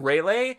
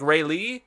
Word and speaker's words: Rayleigh: kei sorry but then I was also mispronouncing railay a parents pronounced like more like Rayleigh which I don't like